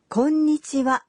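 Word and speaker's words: こんにちは: 10 am okay well what about the pronunciation of the in konnichiwa okay you'd say konnichiwa clapping to the rhythm of three beats let's try saying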